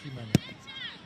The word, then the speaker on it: Ximena: There are a few players in the game who has a Christian name beginning with the letter X, but pronounced Ximena.